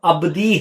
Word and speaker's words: Abdi: رہے ہیں وہ بائبل میں آنے والا نام ابدی ہے، اور اس کے سپیلنگ ہے ABDI، معنی ہے اس کے میرا